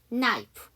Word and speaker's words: knife: knife. K-N-I-F-E 해서 칼이죠. 거기서도 K가 묵음입니다.